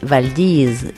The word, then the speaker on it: Valdez: elle se nomme Valdez mais il faut prononcer valdise comme si on avait du gravier dans la bouche selon lui donc Valdis